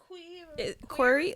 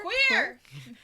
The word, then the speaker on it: QWER: QWER, like a QWERTY keyboard, but like the T without the T. So like QWER. So QWER. Yeah. Queer.